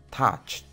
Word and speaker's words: touched: Otro ejemplo es touch. Como puedes ver, este verbo termina con un sonido CH. Entonces, su pronunciación en pasado, si le agregamos ed al final, sería touched.